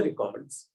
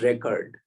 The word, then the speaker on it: record: nobody has seen the records they call it record okay but in I'm used to that pronunciation record okay record is that recording thing whereas record is in the document so I'm sorry about